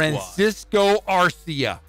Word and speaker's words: Francisco Arcia: Francisco Arcia. Yes, I pronounced it correctly.